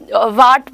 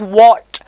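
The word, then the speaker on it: what: even अ single alphabet if you keep on saying अ व्ट व्ट व्ट इफ यू से one word which is डब्लू एच ए T okay this is pronounced as व्हाट व्हाट so look एट the movement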